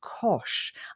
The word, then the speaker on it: Koch: And the way he said to remember it, it says it rhymes with posh and with dosh. And I thought, that's brilliant. I love that. So I'll never forget now. Kosh Lovely.